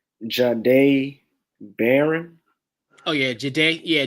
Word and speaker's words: Jahdae: And defensive rookie, I'm going with I feel like I'm gonna say his name wrong. Jahdae Barron. Oh yeah, Jahdae. Yeah, Jahdae.